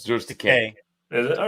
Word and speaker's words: Takei: It's George Takei. Is it? All right. Yeah, as he would say, Takei rhymes with gay.